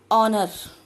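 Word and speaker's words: honour: ऑनर, ऑनर, H is silent word and we are pronouncing them from O, then it is a vowel and I write an honor.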